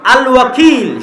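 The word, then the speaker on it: الوكيل: আল ওয়াকিল। শুদ্ধ উচ্চারণ।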